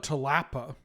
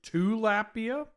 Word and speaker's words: tilapia: I call it tilapa. I do want to talk about sage of ours. Sage of ours to me is very funny. Oh, is tilapia spelled with a u? It's tilapia.